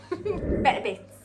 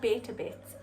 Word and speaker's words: Better Bits: Better bits. Not beta bits. Better bits. That's how you say it.